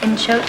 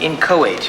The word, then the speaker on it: inchoate: Inchoate, sir? It's pronounced inchoate.